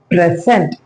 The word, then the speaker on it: present: இந்த வேர்டை வந்து ரெண்டு விதமா ஸ்ட்ரெஸ் பண்ணலாம் எப்படிங்கிறத பார்க்கலாம். ஃபர்ஸ்ட் வந்து பிரசன்ட். ஸோ பிரசன்ட் அப்படின்னா இது நவுனா இருக்கு.